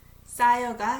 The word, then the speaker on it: 쌓여가: 쌓여가 sounds is H is silent.